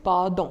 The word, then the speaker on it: pardon: So the spelling in French remains the same, but the pronunciation differs. It's pardon.